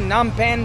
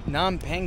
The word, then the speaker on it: Phnom Penh: I say Phnom Penh, Phnom Penh.